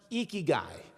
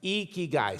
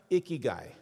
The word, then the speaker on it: Ikigai: It's pronounced Ikigai. You lift your cheeks like you're smiling. It's Ikigai. Say it with me. Ikigai. You got it. That's right. It's not pronounced Ikigai.